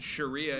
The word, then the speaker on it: Sharia: Uh, I think I would pronounce it Sharia if I wasn't doing a hilarious joke where I said Shakira.